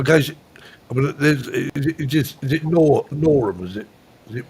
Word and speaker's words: Norham: So I guess, I mean, is it Norham? Is it pronounced Nor?